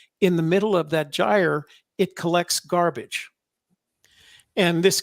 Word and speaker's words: gyre: referred to as the ocean gyre it's spelled g-y-r-e it's pronounced gyre and the gyre is uh there